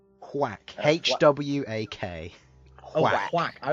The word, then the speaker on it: Hwak: Whack. H-W-A-K. Oh, Whack. whack. I was hearing thwack. So was Whack. I. Oh, okay. No, it's whack. H-W-A-K.